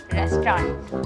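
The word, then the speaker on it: restaurant: Spelling होती है RESTRAUNT, लेकिन आपको लेके जाना है उसको रेस्टोरेंट।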